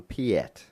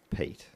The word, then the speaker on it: Piett: a little while ago we were calling someone Piett hmm I found out yet but it's Pete but not nothing result